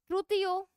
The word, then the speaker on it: Struthio: Struthio, pronunciation is struthio, ostrich, like O.